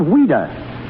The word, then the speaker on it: Ouida: But why did she use the pen name of Ouida? Because as a child, that was the way she pronounced Louise.